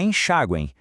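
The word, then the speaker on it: enxaguem: E atenção para enxaguen. A letra M no final soa como um I fraquinho formando tritongo. Isso é uma ótima pegadinha de prova.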